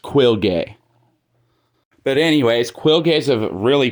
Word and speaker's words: Quilge: And yes, his name's pronounced Quilge.